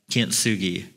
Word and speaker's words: kintsugi: across this Japanese pottery that I'm going to pronounce as Kint Sugi so it may be k n t s